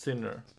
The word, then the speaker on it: Sinner: Germany no like Zena no okay he's actually pronounced sinner oh uh oh what happened uh well it's